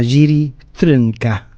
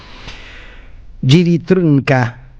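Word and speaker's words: Jiří Trnka: checoslovaco que se llama Jiri Trunka, este así casi impronunciable porque no tiene, salvo la a del final, no tiene ninguna vocal en el medio. Jiri Trunka, nacido en 1912 y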